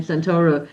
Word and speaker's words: Santoro: I know your your your last name Santoro.